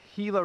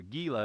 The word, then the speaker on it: Gila: and discovered there was the Gila River, or Gila if you want to mispronounce it.